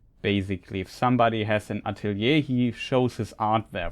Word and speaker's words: Atelier: have a mod called This is pronounced Atelier would be the German pronunciation but maybe we consult